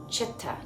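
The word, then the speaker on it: चित्त: Because all C's are pronounced ch. Chitta.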